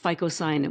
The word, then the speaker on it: phycocyanin: But it also has its own another pigment called ficoyanin which is spelled p h y y c o c i y n i n.